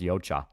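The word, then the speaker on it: Yautja: It's pronounced yocha. They they pronounce it like three different ways in the movie.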